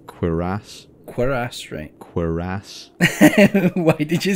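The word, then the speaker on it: cuirass: of armor is pronounced queerass why did you say it like that no because it's it's like french originally so it has a it has an emphasis on the last syllable queer ass at least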